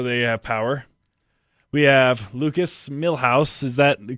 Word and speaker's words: Lucas Millhouse: their mics so they have power we have Lukas Milhouse is that the correct way to say your